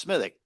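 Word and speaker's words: Smithwick's: Now, if you want to get fancy, there's another great Irish beer called Smittik. Now, smittic, I know how it's spelled and it's pronounced smithic.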